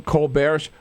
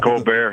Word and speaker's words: Colbert: Colbert. It's funny, when he went to Northwestern many years ago, it was Colbert, but then somewhere along the line he changed it to Colbert, so he's sticking with that pronunciation.